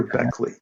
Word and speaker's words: Bechly: Gunther, yeah, that's the way I think he pronounces his name. Gunter, Gunther Beckley.